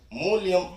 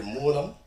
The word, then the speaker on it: மூலம்: ஒரு குற்றம் வைக்க வேண்டும் அவர் பேசும்போது மூலியம் என்று மூலத்தை அவர் உச்சரித்தார் அப்படி உச்சரிக்கலாகாது தம்பி மூலியம் என்றால் நிமித்தம் என்று பொருள். இனி வரும் மேடைகளில் நீங்கள் மூலம் என்கிற சொல்லை சரியாக உச்சரிக்க வேண்டும் என்பதை ஒரு வேண்டுகோளாக நான் இந்த மேடையில் சொல்கிறேன்.